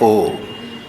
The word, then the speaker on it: ओम: वो कहते हैं इसमें अ उ म है, ओम जो है उसमें अ उ म है। जब हम ओम का उच्चारण कहते हैं तो पहले अ आता है। ये कहाँ हुआ? ये ओंठ खुल गए। ऊ ओम ओंठ जरा बंद हो गए, म में ओंठ बंद हो गए पूरे।